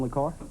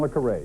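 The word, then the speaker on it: le Carré: points name him John lucar that's right John le carray is the way it's I think pronounced by him 20-point bonus here is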